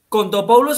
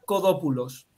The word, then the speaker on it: Kontopoulos: Kontopoulos es como se escribe en alfabeto latino, pero en griego sería Kodopoulos.